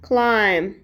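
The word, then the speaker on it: climb: گذشتهش پستش رود رود کلا کلایم به معنی بالا رفتن میشه توجه کنید که بی سایلنت هستش تلفظش نمیکنیم کلا جامپ جامپ به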